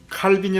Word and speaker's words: 칼빈: 우리 저한 칼빈이 있습니다 칼빈이 라고 발음하기도 하고 칼뱅 이라고 발음 하기도 하고 똑같은 분이십니다 장로교 우리가 미국에 형